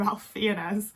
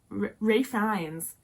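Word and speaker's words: Ralph Fiennes: to say it cuz I want to call him Ralph fenz I know that's not his name but saying R FES like is how I think people pronounce it and that feels weird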